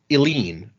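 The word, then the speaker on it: Eline: And our other new backer is at the Misting level, and I want to say this name is pronounced Eileen.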